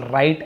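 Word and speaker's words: write: राइट यानी लिखना, यहाँ पर भी डब्लू साइलेंट है, केवल राइट ऐसे पढ़ेंगे।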